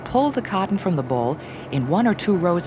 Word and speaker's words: boll: known as a cotton ball ball by the way is spelled Bo ll a well cultivated acre